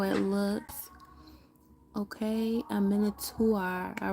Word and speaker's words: Minotaur: PR pronunciation mana. It's a monot. Manuta. Minotaur.